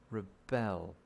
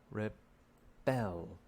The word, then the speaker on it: rebel: there is a verb to rebel rebel uh pay attention to the second syllable rebel rebel you could rebel against